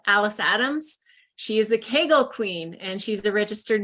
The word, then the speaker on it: Kegel: I was like, how do you pronounce Kegel? Because my whole life I pronounced it Kegel. And that's not incorrect. It's fine. Oh, okay. All right. Matter. You can still say it that way.